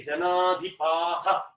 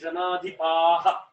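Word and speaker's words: जनाधिपाः: Same way when we say janadhipaha, right? Natvevaham jatu natvam neme janadhipaha. That is the correct way to say it in Sanskrit.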